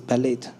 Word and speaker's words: ballet: I have a friend of mine, she dances ballet, and she loves ballet. I don't know if that's the right You mean pronunciation.